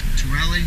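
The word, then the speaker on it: Tooele: Tuelle.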